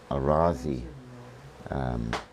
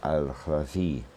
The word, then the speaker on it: al-Razi: The famous Gerber, as he is known, and Arazi, the proper pronunciation was lost to the Western world, but of course is remembered in the Arabic. So Jabir ibn Khayyam and al-Razi, the theory that they developed included a great